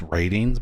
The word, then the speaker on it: RTINGS: I know there's no A, but I've always pronounced it ratings. And I think that's how you're supposed to pronounce it.